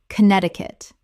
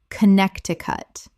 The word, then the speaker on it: Connecticut: Word 119 Connecticut Common mispronunciation Connect-ti-cut Correct pronunciation Connect-i-cut Four syllables, but the first C in Connect is silent in the full state name.